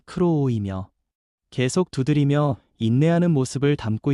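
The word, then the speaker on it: κρούω: 여기서 두드리다라는 헬라어 발음은 크로오이며 계속 두드리며 인내하는 모습을 담고 있습니다.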